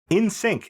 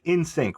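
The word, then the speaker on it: NSYNC: thank you in in sync it's ins it was pronounced in sync right yes yes okay in sync sync which is how it's spelled um sync isn't it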